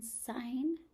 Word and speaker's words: sign: the G in sign. It's because sign is related to signal. We hear the G in signal.